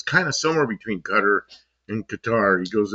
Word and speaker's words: Qatar: I asked him, is it Qatar or Qatar? He goes, in Arabic, there's no accents on any syllables. They're all the same. He goes, it's kind of somewhere between Qatar and Qatar.